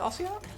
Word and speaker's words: Ossiarch: Is that how you're supposed to pronounce it, Ossiarch?